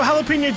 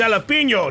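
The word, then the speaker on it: jalapeño: knows where run while you still can yo jalapeno Joe what is up my chume long time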